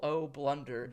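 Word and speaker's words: Oh Blunder: But my short film debut in O Blunder. O Blunder. O is spelled O-H, so O Blunder.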